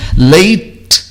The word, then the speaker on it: late: Late, o E final não é pronunciado.